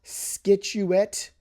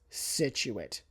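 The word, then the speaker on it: Scituate: And then a little further out on the coast there in Plymouth County, you will run into Situit. It's not skituate or skituate or situate. It's situate situate.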